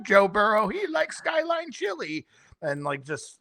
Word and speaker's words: Burrow: I like Joe Burrow. He likes Skyline Chile and like just I like that name. It rhymes with wheelbarrow and that's what your grandfather picked me up in.